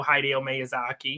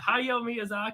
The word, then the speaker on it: Hayao Miyazaki: and yeah i know heidi omayasaki is that how you say it hideo miyazaki is not how you're reading what is it yo miyazaki yeah you're just you're blowing right through the d and the e yes it's